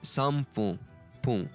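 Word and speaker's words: 三分: It's sanji sanpun fun. They are written as fun, but it's written as pun, if I'm not mistaken.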